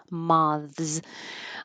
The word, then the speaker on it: moths: We have to say moths.